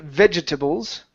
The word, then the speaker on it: vegetables: So, first up, instead of being vegetables, yeah, vegetables. Okay, it's vegetables. So we're going to skip over that second E, okay?